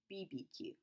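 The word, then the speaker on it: BBQ: would you pronounce this a lot of people would say barbeque but it's actually not barbecue its BB Q right literally it's BB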